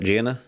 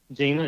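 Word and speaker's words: Jena: Gina. Gina. Yes, sir. Or Gina, Louisiana. That's how you pronounce it.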